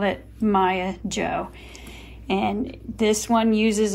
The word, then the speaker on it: Maja: one is called the Maya Joe hat Maya is spelled m Aja a Swedish it was my grandmother's